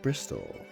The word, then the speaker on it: Bristol: in the 1960s i've never thought of pistols being particularly sharp but they do rhyme with bristol this charming riverside town